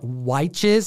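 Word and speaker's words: Wytches: famine if you've read witches or watches as nick from key collector comics calls it because it's spelled with and why um comment down below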